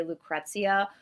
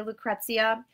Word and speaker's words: Lucrezia: And I had some pushback with the way I say Lucrezia, which is the way all Americans say Lucrezia.